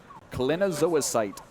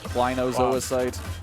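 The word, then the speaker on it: clinozoisite: Kalina Zoisite. Is that how you pronounce it? Okay, I did not know that. That's Klinozoisite. Klinozoisite. The only thing I don't know is if it's a short or a long I.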